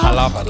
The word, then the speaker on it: Jalapa: Jalapa. I'm saying, I keep forgetting that J is silent.